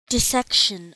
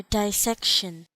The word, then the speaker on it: dissection: by cutting it now the pronunciation dissection or dissection dissection or dissection